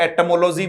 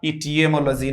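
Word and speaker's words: etymology: फिर से बोलो क्या है, एटिमोलॉजी होगा, इटियमोलॉजी नहीं होगा, एटिमोलॉजी।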